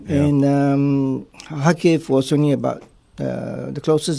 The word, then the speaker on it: Kharkiv: So that's how you pronounce it. Kharkiv, yeah.